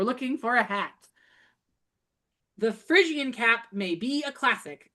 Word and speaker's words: Phrygian: So, the Phrygian cap, pronounced Phrygian cap.